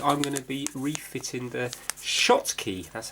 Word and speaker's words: Schottky: video where basically I'm gonna be refitting the Schottky that's how you pronounce it I'll show you a sheet with